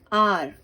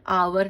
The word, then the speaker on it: hour: Next page, the word आर, इसको क्या पढ़ेंगे, आर, HOUR, आवर नहीं पढ़ेंगे, आर पढ़ेंगे।